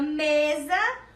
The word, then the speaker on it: mesa: Na palavrinha mesa, eu escrevi com a letrinha S. Mas quando eu pronunciei, quando a gente escuta, mesa, você escuta como se fosse a letrinha Z.